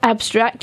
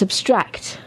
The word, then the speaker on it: abstract: the first syllable and when it's an adjective you put the emphasis or stress on the second syllable so it becomes abstract so when it's abstract